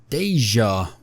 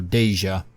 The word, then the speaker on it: Dacia: is the correct one so it's kind of like Asia but with the deme so deja she's got deja here